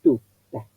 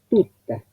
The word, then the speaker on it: tutta: Entonces, Menfi tutta. La doble T la vi y la escribí. Pero los acentos, ¿dónde van? Menfi, el acento adelante, tutta, el acento antes de la primera sílaba.